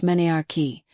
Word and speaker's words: menarche: Most girls get their first period, called menarche, pronounced menarche, between the ages of 10 and 15, but some start earlier and some later.